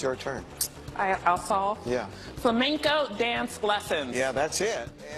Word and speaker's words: flamenco: turn I also yeah flamenco dance lessons yeah that's it Oh instead of saying flamenco the contestant went with you know the pink bird flamingo you got a feel